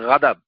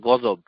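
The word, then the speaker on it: غضب: কিছুই বুঝি না কেননা এই শব্দটা উচ্চারণগতভাবে অশুদ্ধ কারণ এটা হবে গাদাব আপনি বলতেছেন গজব দুইটা তো উচ্চারণই ভুল একটা আরেকটা হচ্ছে আপনি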